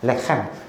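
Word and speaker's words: לחם: 목을 긁으면서 레헴. 그래서 베이트와 레헴이 합쳐졌는데 이 베이트라는 뜻은 집이라는 뜻입니다.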